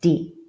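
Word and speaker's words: die: you haven't seen it, the word D means the D. I know that when you see those three letters in English, it's something very ominous, right? But it means D. Okay, we haven't done double letters. We've done twin letters, but we haven't done double letters. So until we get there, just remember that I E mixes on E.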